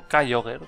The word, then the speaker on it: Kyogre: Uno de ellos es kyogre o koger como se supone que se pronuncia pero como que no